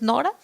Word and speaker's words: Nora: La alusión me gustó a Pierre Nora, así está bien pronunciado, es Nora, sobre los lugares, él